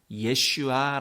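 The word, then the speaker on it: ישוע: 찾아오셨습니다 흥미로운 것은 요 예수님의 이름의 히브리어로는 예 슈아 라고 발음합니다 그리고 이어 호소하는 2호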